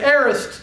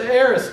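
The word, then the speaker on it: aorist: I planted he used what we call the aist tense now we we probably won't get very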